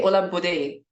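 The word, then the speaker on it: Olabode: Do I say Ola Bode? Is that the right pronunciation? Yeah, that's the right sequence of syllables.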